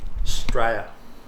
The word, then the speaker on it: Straya: Straya. Why you guys say it like that? That's how we say Australia. Straya. Australia. Straya. Starts with S. S. Yeah. Start with S.